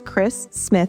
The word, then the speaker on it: Chris Smith: Orlando my name is Chris Smith and I always have to say my name slowly because it sounds like Christmas if I say it I am the